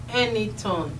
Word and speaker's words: Enitan: the name anything means someone with a story it is written as e n i t a n but pronounced as anything like a n y t o n the